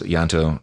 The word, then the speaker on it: Ianto: apparently goes by Ian, because it's the Welsh name Yanto. The only gay in the village. Yeah, Yanto is like the Welsh version of John, apparently, but it's spelled Ianto, and that's how Mark introduced him as Yanto.